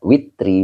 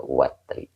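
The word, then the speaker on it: وتر: Jadi boleh dibaca witri, boleh juga watri.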